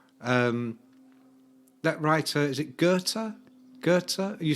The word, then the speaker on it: Goethe: i said to someone who do you think you are go with yeah yeah and yeah i mean go ed yeah none of them have read henry miller they're all idiots and sean who did a double degree in english in america yeah yeah she goes oh you mean goethe yeah yeah but it's